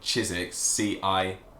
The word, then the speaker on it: Chiswick: You kind of miss out the W. It's just Chiswick. And the S in Chiswick, C-H-I-S, is not Chiswick, it's Chiswick with a Z.